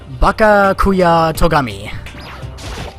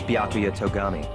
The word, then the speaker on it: Byakuya Togami: Bakakuya Togami. Name's Byakuya Togami. Byakuya Togami. Okay. Inserted an extra syllable in there for some odd reason.